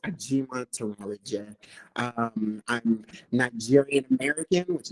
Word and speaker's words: Ajimatanrareje: my super long last name it's uh i pronounced a g monteroli um i'm nigerian american which is great um